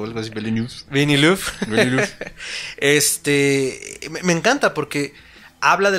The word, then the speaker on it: Villeneuve: Esta película de Arrival de Denis nunca puedo pronunciar. Villeneuve o algo así, Villeneuve.